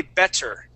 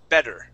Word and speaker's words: better: the word better okay with the two T's there he did not say better he did not pronounce those t's he pronounced the that Double T like a D sound better okay good job good